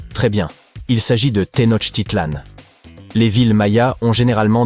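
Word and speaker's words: Tenochtitlan: Il s'agit de Tenot Titlan. Les villes Maya ont généralement des noms difficiles à prononcer comme Yaak Shilan.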